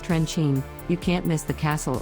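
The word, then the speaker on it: Trenčín: Once you get near the regional seat in the western Slovak town of Trencin, pronounced Trencin, you can't miss the castle overhanging the Old Town Square.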